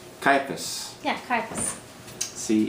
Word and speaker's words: Caiaphas: Spell it out. C-A-I-A-P-H-A-S. Caiaphas.